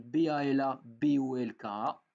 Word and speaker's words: Balabolka: Ça s'écrit Balabolka, ça veut dire moulin à parole en russe.